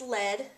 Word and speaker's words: lead: with that being said the one that is spelled like the verb to lead is pronounced lead and it's a type of metal so you would say is that pipe made of lead now over here if